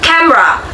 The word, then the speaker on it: camera: In pronunciation syllabification, many people pronounce it as camera. The middle syllable me is often condensed, resulting in a two-syllable pronunciation.